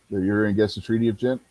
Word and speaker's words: Ghent: Did you say it was Ghent, Gary? Yes, Ghent. Like I said, I always forget how to pronounce that word for some reason. GH know is what it is. pronounced as a hard G generally.